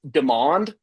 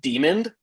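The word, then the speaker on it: Demond: His name is Demand, but I think you pronounce it demon or like demon.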